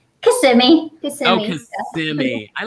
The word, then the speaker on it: Kissimmee: And Diana and Lily, I always say kiss me that you're from, but how do you say it? Kissimmee.